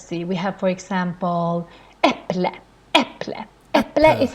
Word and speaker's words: äpple: Normally, the stress in Swedish is in the beginning of the word. Let's see, we have, for example, äpple, äpple.